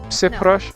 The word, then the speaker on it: przepraszam: So it's more like przepraszam. So it's like a sh Sure. rather than a ż.